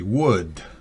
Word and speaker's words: would: What do you remember about the auxiliary would? Recuerden, la L no se pronuncia.